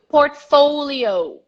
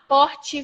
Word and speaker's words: portfolio: letter P number twenty-two portfolio portfolio not Bochy for your portfolio portfolio portfolio and I